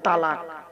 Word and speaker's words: তলাক: শব্দটা বলে তালাক। শব্দটা তালাক নয় বাবা, শব্দটা হলো তলাক। কি বললাম? তলাক, তালাক নয়।